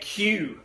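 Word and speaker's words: queue: hair in a braid called and cue but it is spelled q ue u e qu e ue as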